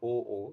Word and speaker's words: aux: aux cards I mean in French au and aux have the same pronunciation that's why I'm saying oo so for you people